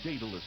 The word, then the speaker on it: Daedalus: The Daedalus encounter from Virgin Interactive Entertainment.